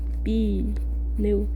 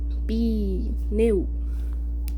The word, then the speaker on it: pneu: Tu pronuncia o que, meu caro? Pronuncia pneu. A gente faz 2 rajadas de ar, cara. Pneumonia. Assim, pneu.